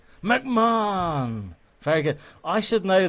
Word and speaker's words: McMahon: and also mayon you don't pronounce the h is that right yeah well that was a solid effort man that's that's that was pretty good mcmahon mcmahon very good i should